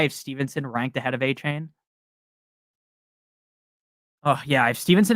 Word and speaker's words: Achane: I really it doesn't really matter because when you play Madden, they pronounce his name as Achane, and then the other announcers pronounce him as Achan. But I think it's Achan, so that's why I'm going to keep saying that.